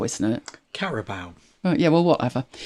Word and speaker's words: Carabao: Now, I know it's pronounced Carabao, isn't it? Carabao.